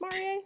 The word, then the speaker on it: Marie: It's pronounced Marie, she told me.